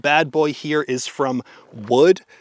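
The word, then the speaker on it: Woox: 500 stocks this beautiful wood bad boy here is from wood it's uh spelled w x I was informed that it is not pronounced like woo uh but uh I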